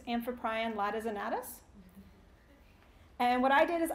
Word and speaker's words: Amphiprion latissimus: And if you're wondering how that's pronounced, it's Amphiprion latissimus.